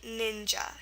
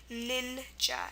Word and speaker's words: ninja: to spell it, and an example would be ninja. See, there you have the I sound, ninja, and you're just going to spell it with an I, just like most English